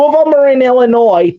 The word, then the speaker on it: Illinois: Now she lives in Kenosha, Wisconsin, but she did live in Illinois, and she would always it would always bother her when she would hear people say Illinois because the S is silent.